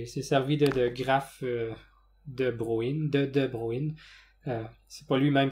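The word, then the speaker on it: de Bruijn: Où j'ai vu toutes sortes de prononciations de ça. Des graphes de Bruggen, des graphes de Bruggen. Bon, je crois que la bonne prononciation, c'est de prendre le J muet et dire graphe de Bruyne.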